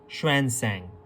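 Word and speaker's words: Xuanzang: पढ़ते हैं श्वेनसेंग, इसको कुछ पढ़ते हैं। तो किसी भी तरीके से आप इसको याद रखो, ज़्वेनज़ैंग रखो, श्वेनसेंग रखो। एक्चुअली में जो इसको प्रोनाउंस किया जाता है वो है श्वेनसेंग।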